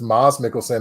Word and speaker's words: Mads Mikkelsen: It was Mads Mikkelsen. My girlfriend corrected me once because I keep calling him Mads, and she goes, "It's actually pronounced Mads Mikkelsen," and I said, "No, it's not," and then I was way wrong.